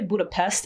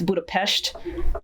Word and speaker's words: Budapest: other thing people say Budapest its Budapest I learned that for something apparently s's are pronounced like Shh but like the Danube